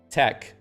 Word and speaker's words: TeX: And it actually is supposed to be pronounced like Greek letters, I think. And the X is actually a he, which is like a sound, like tech. But you can just call it tech.